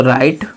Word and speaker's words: write: इसके बाद क्रिया, क्रिया क्या लिखना, तो राइट, WRITE। अब इसमें दोस्तों राइट, WRITE, हम क्या पढ़ रहे हैं, राइटो, राइटो, ई का उच्चारण नहीं कर रहे हैं, न डब्लू का उच्चारण कर रहे हैं, राइटो, इनका उच्चारण कर रहे हैं।